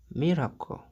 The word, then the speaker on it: miracle: On va remplacer le CLE par co et ça va être miracle.